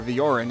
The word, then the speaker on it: Virion: And that's Virion. Or Viorin, as his name is pronounced in Japanese.